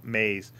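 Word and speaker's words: Moews: milwaukee police department named mays it's spelt m-o-e-w-s or something's weird but it's pronounced maze he was a lieutenant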